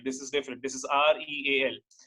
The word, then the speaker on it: rial: This is REAL. They write it as Rial, but they pronounce in a different manner. Okay, they pronounce as Real. They don't call it as Rial.